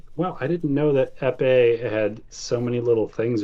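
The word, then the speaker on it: épée: bigger than an epee, if I'm even pronouncing that right. Yeah, epee.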